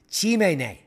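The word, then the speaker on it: Tsimane: she's one of 16,000 tisus who live in the Amazon rainforests yes and I'm probably pronouncing their name wrong but they do have the pronunciation here it's pronounced Chim she is part of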